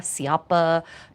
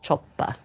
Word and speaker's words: cioppa: And some of you might look at that word in English and call it cioppa, ciappa, choppa, but in Italian it's just choppa.